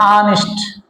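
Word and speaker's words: honest: एक चीज यहाँ पे कंसेप्ट है एच, तो अब आप बोलोगे सर एच जो है वो तो कॉन्सोनेंट है, बट इसका जो हम लोग प्रोनाउंसिएशन करते हैं ऑनेस्ट, ऑनेस्ट, क्या ऑनेस्ट, तो तो यहाँ पे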